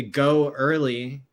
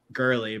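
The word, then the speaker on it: Goerli: working fine between the go early I used to pronounce it girly but it's spelled go and then weird spelling of early but um the go early testnet which is the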